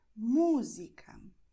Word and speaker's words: música: So if you see this acento, any acento in Portuguese, you know that you're going to stress this syllable. So you're going to say música, perdão, metrô, and this is the way to pronounce it, okay?